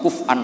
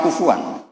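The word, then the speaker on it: كفؤا: Harusnya qiraah masyhurah itu walam yakullahu kuf'an ahad bil hamzah. Dan rata-rata qiraah sab'ah bacanya, qiraah sab'ah bacanya walam yakullahu kuf'an ahad. Bukan kufuan.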